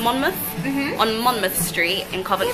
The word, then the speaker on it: Monmouth: am Simon fresh now on mornith streets are you pronounce it monmouth monmouth on monmouth street in